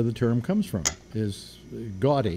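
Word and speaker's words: Gaudí: Is gaudy actually is how the name is pronounced.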